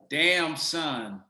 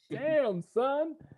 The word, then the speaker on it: Damson Idris: to mess it up damn son the easiest way to remember it damn son is this how are